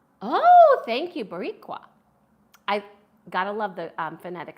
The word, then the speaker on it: Boricua: you for adding I love that and it's pronounced boricua oh thank you boricua I gotta love the phonetic spelling because that